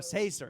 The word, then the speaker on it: Caesar: in that green kale caesar no Cesar Cesar cause that's a rhyme with Trailblazer oh Caesar all right